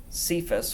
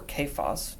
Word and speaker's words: Cephas: that he appeared to Cephas or Cephas, depending on how you want to pronounce it, then to the 12.